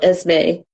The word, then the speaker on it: Esme: Esme, is that how we pronounce it? Esme, yes, Esme. Esme/Jane Yes.